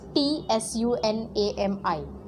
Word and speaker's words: tsunami: The spelling of tsunami is T-S-U-N-A-M-I. There is T in the beginning, but you don't say T. T is silent.